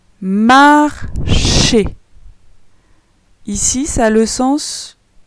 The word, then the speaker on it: marcher: Ensuite, on a M-A-R en vert. Ces trois lettres donnent le son mar. Après, on a les lettres C-H-E qui se lisent chez. Marcher.